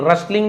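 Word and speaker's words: rustling: रसलिंग नहीं बोलेंगे। T silent होता है।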